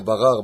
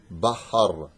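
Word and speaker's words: בחר: On le voit ici, on en rigole d'ailleurs souvent, avec le het. Asher barar banu mikol ha'amim. Barar. Bahar. Het, resh. Bahar banu. Tu vois, la personne, elle ne sait pas bien prononcer.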